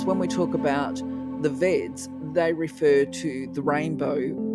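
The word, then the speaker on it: Vedas: She said, "They're not veers, they're vets." I was like, "Okay, I'll remember that." Well, of course, when we talk about the vets, they refer to the rainbow differently.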